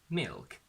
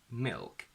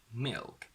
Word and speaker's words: milk: So we don't say milk, we say milk, milk.